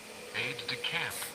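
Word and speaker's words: aide-de-camp: Let's see how you pronounce it. Aide de camp.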